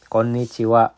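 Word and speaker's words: こんにちは: Nah, mungkin teman-teman tahunya ini itu dibacanya H. Betul ini H. Tapi dalam konteks ini dibacanya wa. Sama seperti kalau H ini nanti jadi yang namanya partikel. Dia disebutnya bukan H tapi disebutnya jadi wa.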